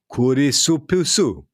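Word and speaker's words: クリスプス: So crisps in Japanese would be kurisupusu. Yeah. Kurisupusu is what you would utter.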